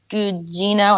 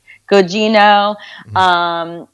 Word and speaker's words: Gugino: It's got Timothy Hutton, Carla Gugino. I'm not sure how to pronounce her last name. Gugino.